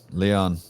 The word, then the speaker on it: Leon: name again uh did you say it Leon Leon Leon dude oh Leon's coming on